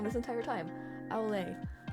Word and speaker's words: au lait: How do you pronounce that? Olay. I've been saying it wrong this entire time. Olay.